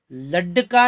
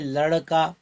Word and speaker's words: लड़का: इसमें ड के नीचे निंदी बिंदी लगाई, ड लड्डका नहीं बल्कि लड़का। शब्दों को एकदम हल्के से उच्चारण होता है लड़का।